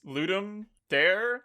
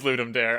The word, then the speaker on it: Ludum Dare: little competition I'm so I've never heard that pronounced out loud I don't know how to say it I definitely added some letters in there it's ludum dare ludum Dar in my mind it was always ludum dare maybe it is ludum